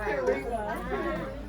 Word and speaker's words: Kurima: She said Kurima. Was she trying to say my name? It's Kurima.